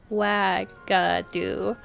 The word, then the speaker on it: Uagadou: Do you guys see how that's spelled? Uagadou, and it's pronounced Wagadu.